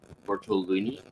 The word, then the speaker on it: Bartolini: My next today are is it Veronica Bartolini?